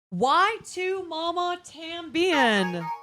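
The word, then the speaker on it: Y tu mamá también: Why to Mama Tambien?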